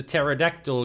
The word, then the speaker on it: pterodactyl: And also the joke of why do you never hear the pterodactyl go to the bathroom? The answer is, the P is silent.